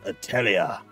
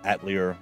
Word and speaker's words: Atelier: and the secret key or atlier ryza 3 if you prefer to go with that allegedly incorrect uh pronunciation but I do vaguely remember one of the voice actresses at some point when they were uh doing one of the earlier games uh actually saying that so six of one